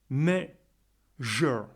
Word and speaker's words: measure: Mais ici, dans le mot qui nous intéresse, on va le prononcer comme un je. Exemple. Mais, measure, measure, measure.